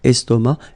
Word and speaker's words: estomac: L'estomac, okay, same thing here, final C not pronounced, and then M means that this word, estomac, is masculine, okay?